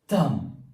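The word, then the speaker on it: thumb: We have another word that is थम। What? थंब। और तब असल में हम कहते हैं अंगूठे को और इसमें जो वर्ड बी है this is the silent word and the last word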